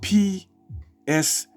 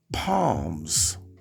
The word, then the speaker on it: Psalms: She called the book of Psalms Palms. And the nigga she sits over there with, he had to correct her. It's Psalms. It's Psalms. The P is silent.